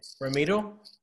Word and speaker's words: Ramiro: my name but yeah how do you pronounce it like remedy i i always pronounce it with a d i know a lot of people pronounce it with an r but yeah i now